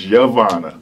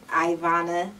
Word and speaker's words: Yvonna: So what is the correct pronunciation of your name? My name is Yvonna. It's Yvonna. Yvonna.